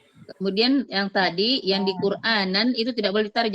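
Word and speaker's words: قرآنا: Kemudian yang tadi yang di Quranan itu tidak boleh ditarik. Jangan dibaca quranana aja. Tapi diberikan sifat bainiahnya quranan. Quran ya seperti itu.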